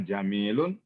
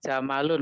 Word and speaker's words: jamalun: bacanya jamalun, Pak ya. Oh, Jamalun. jamalun. Ya. Yang Ada dibaca jamalun. jamil, yang dibaca jamil itu kalau setelah mim ada ya-nya. Jamilun, nah itu ada ya-nya.